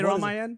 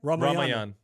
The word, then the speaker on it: Ramayan: Say Ramayan. Ramayan.